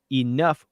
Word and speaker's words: enough: There's cough, which rhymes with off, enough, which rhymes with stuff, dough, which rhymes with